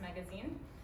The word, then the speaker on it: magasin: It's spelled like magasin, but pronounced magazine.